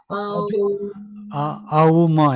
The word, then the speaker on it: ओम: अलग-अलग जगह अगर आप एक्चुअल प्रोनंसिएशन देखेंगे तो अ ओम ऐसे है उसको तीन भागों में स्प्लिट करके उसको प्रोनाउंस किया जाता है अच्छा आऊ म ऐसा जी जी अच्छा